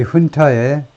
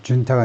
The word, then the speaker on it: junta: The junta's message has been 이 훈타의 메시지가 그러니까 이게 그 라틴어에서 스페니쉬에서 나온 건데요. 스페니쉬에서 나왔기 때문에 스페니쉬는 이 J를 H 발음을 하죠. 그래서 준타가 아니고 훈타인데 이 훈타의